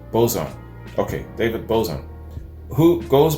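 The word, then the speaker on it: Bazan: the most interesting lyrically david uh bazon pronounced bozon okay david bozon who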